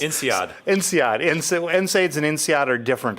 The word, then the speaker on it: INSEAD: with his MIT and, how do you pronounce it, NSAID? No, NSAID, that's... INSEAD.